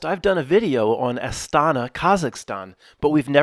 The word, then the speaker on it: Astana: the the name right it's not a Santa it's aana you know what I think because it's not elk Travel Tours I should pronounce it correctly estana the name today will